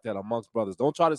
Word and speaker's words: Amngst Bruthaz: You say it like that, amongst brothers.